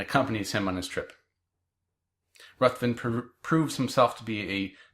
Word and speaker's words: Ruthven: I've also heard it pronounced Riven, but I've always pronounced it in my brain Ruthven, so I'm going to go with that.